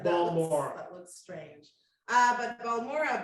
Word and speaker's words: Balmorhea: I think it's pronounced Balmorhea. Balmorhea. Balmorhea.